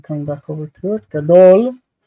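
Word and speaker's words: גדול: So the word gadol, if I'm coming back over to it, gadol has that the strong, long in the first syllable, gadol, big.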